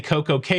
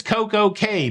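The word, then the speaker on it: CocoCay: say key unless it's Coco K because Royal Caribbean has branded that to be said Coco K so don't look like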